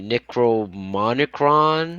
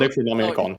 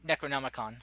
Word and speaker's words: Necronomicon: I already did Fuck, I don't even know how to pronounce it. Pneumonia. Pneumonia. No. Oh no. The Necromonicron? Is Oh. that the book? Necronomicon. Necronomicon.